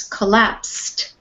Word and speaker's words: collapsed: verb so this is collapsed it sounds like a t on the end collapsed collapse okay try again